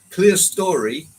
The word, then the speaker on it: clerestory: I was never sure on clear story pronunciation. Well, it did come from a railwayman that it's called Clear Story.